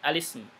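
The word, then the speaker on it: الاسم: Bacanya al-ismu. Ini berarti al-ismu, tidak pakai hamzah qata ya.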